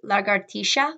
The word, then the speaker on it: lagartixa: In Portuguese, lagartixa, which means lizard, the X makes the ch sound, whereas in English, said can also be a possible misconception.